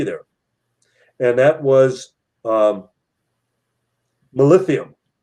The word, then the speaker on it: molybdenum: Well, except for the molybdenum. The molybdenum, I pronounced it wrong the first time. Molybdenum.